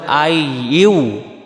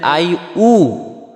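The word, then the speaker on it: أيها: হলো ইয়া আর এখানে ইয়াটাও এখানে বলতে হবে আই ইউ আই ইউ আর যদি বলি আই উ তাহলে হামজা পেশ উবে ইয়া পেশ হয় ইউ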